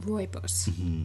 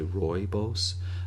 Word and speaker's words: Rooibos: And it's like, "How do I pronounce royos?" Now, I think I saw it phonetically spelled and that's why I say some people say Royos uh robos, but I think it's I think it's Royos.